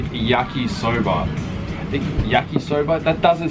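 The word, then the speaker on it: 焼きそば: It's called yakisoba, yakisoba? That doesn't sound right. I probably just did I just butcher the pronunciation?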